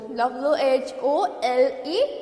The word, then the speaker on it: whole: W-H-O-L-E, होल. क्या है ये? W-H-O-L-E, होल. We will say this is W-H-O-L-E, whole. W क्या है? Silent. In this word, W is silent, and this whole means sub, all, to, entire.